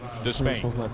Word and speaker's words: Despaigne: So that's what we go with, Despain.